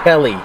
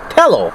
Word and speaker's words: Tello: DJI Telly. Tello. Tello.